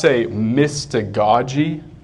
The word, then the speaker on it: mystagogy: It's called, there's different ways to pronounce it, but I say mystagogy instead of goji.